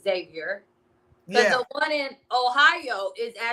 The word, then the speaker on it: Xavier: You don't pronounce the X.